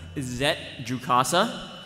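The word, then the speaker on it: Zett Jukassa: so for the next character uh it's officially pronounced zet jcasa uh number of dialogue lines in the script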